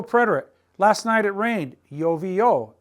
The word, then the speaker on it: llovió: Last night it rained, llovió, accent on the O, llovió.